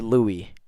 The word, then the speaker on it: Louis: The I'm gonna call him Lewis.